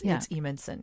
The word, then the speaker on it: Edenson: It's spelled strangely, but it's Edenson.